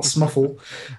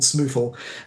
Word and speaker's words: SMuFL: smole to its friends I had to test whether it was smuff or smole because of my colleagues German uh in German it's definitely SML not smuff uh so it's it's called SML and um you heard it